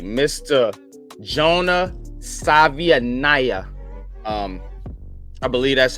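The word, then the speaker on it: Savaiinaea: The last name is Savianaya. Savianaya.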